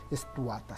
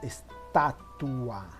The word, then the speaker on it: estatua: No se dice estuata, sino estatua.